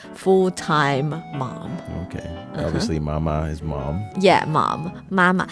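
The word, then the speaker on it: 妈妈: I'm just saying the proper pronunciation is mama.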